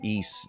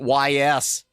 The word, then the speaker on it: Ys: Oh, I'm sure east you always hear about so much so that I actually pronounce it right cuz I used to pronounce it YS hid marathon win.